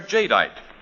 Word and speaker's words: Jadeite: Anchor Hawkings amazing new kind of dinner wear, Jadeite. Now, it's spelled J A D E I T E.